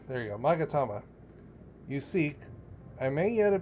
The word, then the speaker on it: Magatama: I am but a humble stonemason, but if it's the Yasakani no Magmata, oh God, I can't pronounce that, Magatama, there you go, Magatama, you seek, I may yet be of some assistance to you.